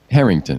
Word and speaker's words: Herington: Herington.